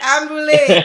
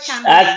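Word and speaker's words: Canboulay: Ambulé. Did I say it right? Cambulé. Yes. Stop. Yes. That's correct.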